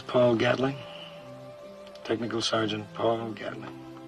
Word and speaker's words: Gatling: Technical Sergeant Paul Gatling. Down in Georgia, we pronounce it Gatlin.